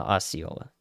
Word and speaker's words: Osceola: Osceola, Osceola.